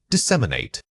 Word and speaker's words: disseminate: Say it again, disseminate. This is a powerhouse academic verb and its rhythm can be tricky. Focus on separating the syllables clearly so your speech doesn't become a single rush of air.